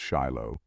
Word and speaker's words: Shiloh: the second interpretation of the tetragram shill pronounced Shiloh is equally important and